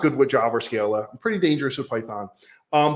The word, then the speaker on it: Scala: in either Java or let me say it right because I always say it wrong Scala not Scala Scala um which is